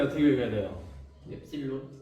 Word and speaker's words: 입실론: 엡실론. 입실론. 본토 발음 아닙니다. 그리스예요, 그리스. 선생님 본토 발음 못해요. 그냥 입실론.